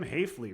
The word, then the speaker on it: Hayley: guy yes name is Jim Hayley rhymes with safley played uh played with